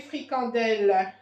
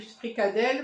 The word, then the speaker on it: fricandelle: Les fricandelles à 3,99 €. Les fricandelles. Les fricandelles, c'est comme ça que ça s'écrit, c'est comme ça que ça se dit. Nous, on dit fricadelle, mais c'est fricandelle.